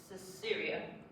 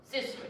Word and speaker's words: Sisera: Then, she references that the general, which is Syria. I don't know if I'm pronouncing that right. I pronounced it Sisera. Sisera, yes, thank you. I knew it wasn't coming. I thought it didn't sound right.